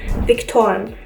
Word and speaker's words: Vektoren: But we work a lot with vectors, and what that is called in German is Vektoren. So the V is an actual V in this case.